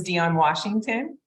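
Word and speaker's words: Dionne Washington: Yes, my name is Dion Washington. It's spelled D-I-O-N-N-E, Washington, just like the state, and I'm with the Arizona Food Bank Network.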